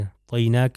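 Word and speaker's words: أعطيناك: اس کو لمبا کھینچیں، طوئی عین کا تلفظ صحیح اور طا کا تلفظ جو ہے صحیح طریقے سے ہونا چاہیے، اعطیناک الکوثر، ٹھیک ہے، کوثر۔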